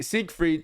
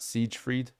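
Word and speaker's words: Siegfried: wait hang on SE seek freed is it's SE it's seek freed right seek freed not Siege freed seek freed okay seek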